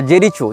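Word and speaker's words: Jericho: इसने जेरिको या जेरीचो जो भी इसका उच्चारण भाषा में किया जाता हो जे ई आर आई सी एच ओ जेरीचो या जेरिको जहां तक जेरिको होना चाहिए उच्चारण ये फस्तीन का प्रांत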